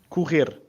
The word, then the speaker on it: correr: Whenever we get two R's like this in the middle of a word, it's a guttural R. So a R. So cool. Cool. And then at the end we have a R. So singular. Correr. Correr. Actually, I forgot to mention as well, this E here is it's not like your standard E, it's a bit of a pressed E, so correr.